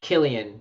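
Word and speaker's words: Cillian: Is his name pronounced Clyde Murphy? No, Killian.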